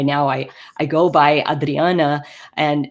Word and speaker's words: Adriana: more of the um Portuguese pronunciation of my name so going by Adriana instead um because I've